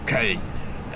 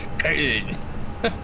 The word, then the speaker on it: Köln: No, yeah, in English it's Cologne, you know, but you know, Köln. It's this German way to say it, Köln.